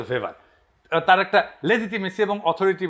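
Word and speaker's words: Weber: আরেকজন দার্শনিক আছে ম্যাক্স ভেভার এটা ওয়েভার বলে অনেকে এ উচ্চারণ আসলে ভেভার তার একটা লেজিটিমেসি এবং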